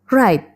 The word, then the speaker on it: write: Write. Menulis. Nah, di sini eh W atau W-nya tidak terlalu terbaca ya. Jadi kita bacanya write menulis.